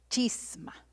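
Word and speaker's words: σχίσμα: a esto, que es la palabra chisma, es S-C-H-I-M-A, chisma, con acento en la I, pero con S al principio.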